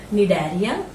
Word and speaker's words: Cnidaria: Second is the Cnidaria. C is silent here. Cnidaria.